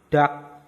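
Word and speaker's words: 닭: Nah, ada akhiran konsonan riel giak. Nah, berarti yang dibaca itu cuma giaknya aja. Berarti kata ini dibacanya dak.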